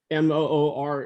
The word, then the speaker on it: Muir: But again, he was Scots Irish, and MOOR is the correct pronunciation of his name.